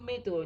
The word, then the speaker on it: método: no debe llevar tilde si dividimos método entre sílaba me to do me sería la sílaba fuerte contamos última última antepenúltima